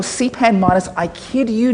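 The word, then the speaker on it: cpanm: the author of this called c p m cpan m or cpan minus I kid you not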